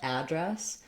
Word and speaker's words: address: that a vowel correct you can also say address for the noun which would mean that you're using dress as your stressed syllable so it's long it has the f vowel and then you want to have just a really short unstressed uh sound for the letter a here this is what we do with many words that start with a that aren't stressed on the letter a like above about